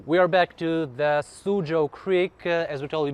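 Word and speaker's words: Soochow: It's spelled written in an old way, so it's not Suzhou. It's S-O-O-C-H-O-W. Suzhou. Yeah, because it was a Shanghai dialect at the time when the concessions were evolving here.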